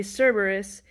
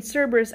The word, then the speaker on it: Cerberus: in the english alphabet the c in cerberus actually makes a k sound so his name would